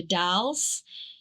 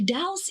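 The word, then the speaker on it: The Dalles: in Eugene in the Dallas and then the Dallas the Dallas. Dallas. Where is that? The D. It's spelled as uh the the and then Dallas. D A L L E S.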